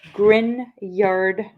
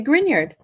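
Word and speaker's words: Grignard: GN not an ny grard reaction pronounced with a Y spelled with a G the ginyard is very interesting because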